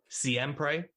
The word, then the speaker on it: Siempre: Going on to what you were just talking about and having good music, Siempre, is that the correct pronunciation of it? Yeah, that's right.